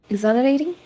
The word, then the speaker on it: exhilarating: Um, the H can actually be silent if you would like. So, exhilarating. Exhilarating.